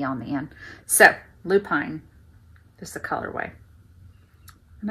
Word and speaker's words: Lupine: way it spelled it it should be Lupine which is a flower Lupine l u p i n e but for some reason